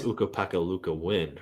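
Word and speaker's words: Ukko-Pekka Luukkonen: and other players uh it's ukap peka Luca wind remember Uka Luca win well we'll see how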